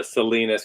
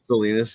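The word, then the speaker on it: Salinas: to envelope real quick I just saw the Selenas California that's how it's supposed to be pronounced Selenas yeah Selenas yeah Selena like Sal Kansas salinus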